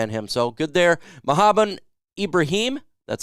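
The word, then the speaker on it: Mohamed Ibrahim: all can rely on him so good there mohabbat Ibrahim that's how you say it Mohammed Ibrahim was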